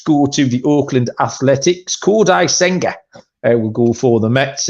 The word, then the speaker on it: Kodai Senga: And by the way, can I just say you pronounced that amazingly, Kodai Senga.